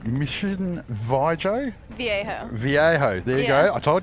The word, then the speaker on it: Viejo: Viejo.